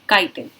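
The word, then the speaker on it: chitin: Hard complex sugar की, that is called काइटिन। आप इसको चिटिन भी बुला सकते हैं। ठीक है, ये दोनों ही तरीके के प्रोनाउंसिएशन में बहुत कॉमनली यूज होता है।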